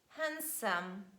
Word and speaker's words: handsome: edge fridge judge bridge letter d is also silent in the middle of words when it's preceded by letter n sandwich handsome handkerchief but please make sure